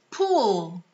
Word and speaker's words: pool: Esses dois Os juntos, eles não sempre, mas muitas vezes vão ter o som de U, tá? Então, pool, como em room. Por isso que essa é a palavra correta, porque rima com room.